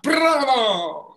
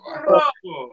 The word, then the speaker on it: bravo: Bravo! Bravo! Yes, fantastic. Well done. Okay. Right, now when we say bravo, you can hear that you've got to roll your r's with your tongue.